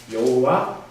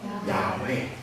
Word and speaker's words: 야훼: 오늘 사실 하나님의 이름 가운데 하이라이트 중에 하이라이트인 여호와, 사실 그 여호와라고 하는 이름보다 더 정확한 발음이 뭐라고 말씀드렸죠? 야훼.